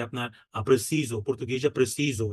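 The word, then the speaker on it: preciso: এদিকে দেখেন যে আপনার প্রেসিজো পর্তুগিজে প্রেসিজো এটা জ এর মত উচ্চারণ হচ্ছে কিন্তু স্পানিয়াল অর্থাৎ স্প্যানিশে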